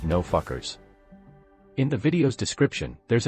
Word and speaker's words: NFKRZ: March 2nd on his YouTube channel called NFKRZ, pronounced No Fuckers.